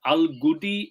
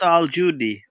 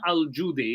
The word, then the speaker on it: Al-Judi: Al-Gudi is what is the Al-Gudi? Hang on. It's Al Judy. Al-Gudi. It's usually spelled with a J, and Uh-huh. that's in the Turkey area. Okay, so it's Mountain Al-Judi.